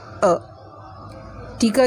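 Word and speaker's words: attack: ए का क्या होगा? अ। टी का क्या होगा? ट। कोई भी लेटर अगर दो बार आ जाता है उसकी एक ही सिंगल साउंड होती है।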